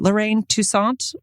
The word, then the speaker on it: Lorraine Toussaint: Lorraine Toussaint.